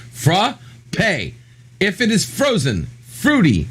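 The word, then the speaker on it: frappé: this exact thing yes with the accent over the e that makes it sound like an a so that's frappe yes but read what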